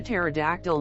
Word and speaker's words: pterodactyl: day why doesn't a pterodactyl make any noise when it goes to the toilet because the p is silent why did the toilet